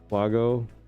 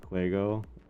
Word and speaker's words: Wago: Got pronounced right. Usually people say Quuego.